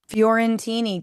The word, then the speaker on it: Fiorentini: Furentini.